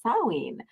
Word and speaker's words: Samhain: so that means it is almost time for sawing so if you saw the title that s